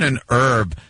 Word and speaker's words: herb: like professional call it an herb the H is silent it sure is and herb and you're